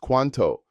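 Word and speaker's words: cuánto: How much is quanto pronounced quanto? This is absolutely crucial for shopping, dining, and any situation involving money or quantities. The accent mark shows that stress falls on the first syllable.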